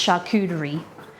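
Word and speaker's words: charcuterie: r i e CH cuty board but it's pronounced shakery shaky all righty party think we're done like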